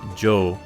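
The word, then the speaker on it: 城: it's actually castle and it is pronounced joe when used as a suffix here so you'd read it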